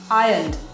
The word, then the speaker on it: ironed: is denoting the action ironed all right not iron r is silent she ironed her dresses